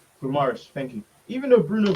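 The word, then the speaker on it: Guimarães: Gomares. Guimaraes.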